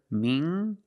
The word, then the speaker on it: mingle: Mingle using the nasal m sound and the hard g. Mingle.